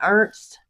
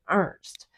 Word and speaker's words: Ernst: hers is spelled that way, E R N S T and she says it Ernst. But the waiter was saying Earnest.